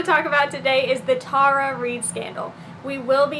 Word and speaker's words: Tara: It is pronounced Tara. And no, we did not have to go back and re-record this multiple times because I kept saying Tara.